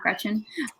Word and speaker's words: Gretchen: That's why my name is pronounced Gretchen and not Gretchen. It's a German pronunciation.